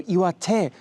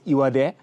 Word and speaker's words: Iwate: Iwate, as I said, is rock and hand, but a lot of T's become D sounds in local dialect here. And so Iwate might be pronounced by locals Iwade.